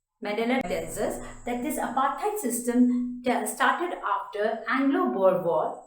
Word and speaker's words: apartheid: Apartheid system, apartheid, A-P-A-R-T-H-E-I-D, which is pronounced as apartheid.